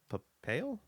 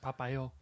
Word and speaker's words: Popeil: Barbara Streisand and husband Ron Papale?